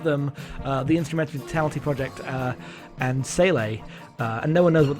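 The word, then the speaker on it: SEELE: the Instrumentality Project and Sele, and no one knows what they want. So is that actually how you pronounce it? Because I've always said Seal. It's Sele.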